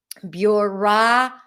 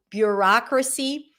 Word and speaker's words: bureaucracy: Primary stress is on the rock.